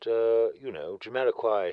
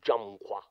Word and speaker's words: Jamiroquai: Well, I suppose he would, but, Jamiroquai himself... I think it is actually pronounced Jumqua. Like the fruit, kumquat. Jumqua.